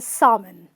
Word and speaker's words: salmon: people say salmon salmon the l is silent okay so the next time when i go to a restaurant i order the salmon then you also have